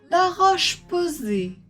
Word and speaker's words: La Roche-Posay: Chanel Dior Dior Locom loom la roche posée la roche posée le Ritz le Ritz Louis von Louison l